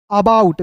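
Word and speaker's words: about: तो ए का उच्चारण यहां पे दोस्तों अ के रूप में करेंगे।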